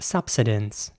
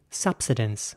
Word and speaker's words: subsidence: is spelled s-u-b-s-i-d-e-n-c-e and in British English this will be pronounced subsidence now again not everyone will pronounce it that way but many people do subsidence my point is that the I is once again like an ER so like the earlier